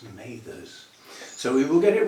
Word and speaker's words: Mathers: it's her name, and it's pronounced Mathers, not Mathers, it's Mathers.